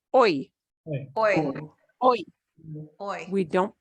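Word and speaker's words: hoy: Here, the Y, the Y is the last letter of the word, and it's pronounced oi.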